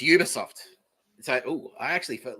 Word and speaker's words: Ubisoft: Is Uberoft or Ubisoft? Okay, it is Ubisoft.